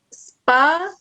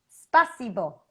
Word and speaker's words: Спасибо: Спасибо. Спасибо. Spa. Si. Si. Сибо. Spasibo. Yes. Спасибо. Spasibo.